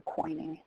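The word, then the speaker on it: quoining: corners of the building it's spelled qu o i n i n g so coining I think French provincial buildings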